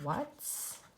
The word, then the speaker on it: what: faster another question word what's there's a little bit of an oddball sound cuz it doesn't really sound like an ad sounds like an O but we spell it with an A what it's very important